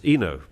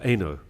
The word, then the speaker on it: Eno: common Huguenot name is is pronounced Ino or Eno and a lot of